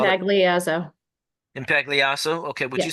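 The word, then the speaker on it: Impagliazzo: pronounce your last name please and Spell impo impact leaso okay would you spell it for the quote reporter please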